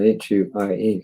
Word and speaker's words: Huie: I think it's Huie, H-U-I-E. You pronounce it as you wish.